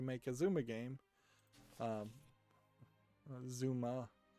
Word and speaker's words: Zuma: what is just a Zumba game it's kind of pointless to make a Zuma game um Zuma I think is how you pronounce it not Zumba I think Zumba is